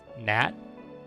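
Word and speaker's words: Knat: For tanks, I have Nat, which is literally, it's spelled K-N-A-T, which is tank spelled backwards, I'm pretty sure.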